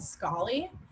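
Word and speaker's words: Scholly: you to check out is our is called scully that's spelled s-c-h-o-l-l-y it was actually developed by a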